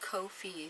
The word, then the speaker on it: Ko-fi: coffee the coffee platform it's pronounced Kofi it's supposed to rhyme with no fee um it is a